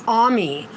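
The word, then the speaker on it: Aimé: I like my my sister Amy, but she says, "My name is Ammy." Ammy. And she have to put an accent. So put and her name is spelled A I M E. And so she put the accent over her E.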